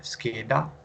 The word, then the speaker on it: scheda: che che venier forchetta forchetta per lui alla scheda scheda final eight perché perché lo studente ha